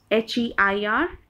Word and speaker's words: heir: First pair is एयर एंड air. Pronunciation देखिए एयर, लेकिन first वाले का spelling is HEIR and the second one, in the case of the second one, the spelling is AIR.